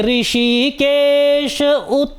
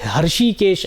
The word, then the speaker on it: ऋषिकेश: लोग कहते हैं कि कई लोग हृषिकेश ऐसा उच्चारण करते हृषिकेश नहीं होता है ऋषि केश जब लिखा जाता है ये री शब्द है ठीक है री हल्का सा ह का इसमें साउंड आता है ठीक है जब हम